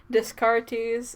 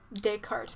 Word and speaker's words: Descartes: is important bacon bacon disc artis and didn't know now discourteous disk art or dick heart sorry des cartes that's how you pronounce Rene Descartes I hate French names